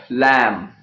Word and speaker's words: lamb: letter B okay well there are many words in which be is not pronounced letter B means the sound bird is not pronounced for example if you talk about the sounds lamb comm numb okay link and climb okay bomb and there are so